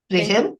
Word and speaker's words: Rihem: Rihem?